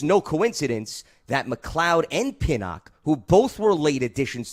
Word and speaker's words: Pinnock: Is it Pinnock? Is that how you say his name? Yes, Pinnock, correct.